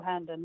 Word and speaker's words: Hearnden: or is it herndon and did i say it right i was supposed to ask you that before we started but you actually got it right not many people get it right but handen yes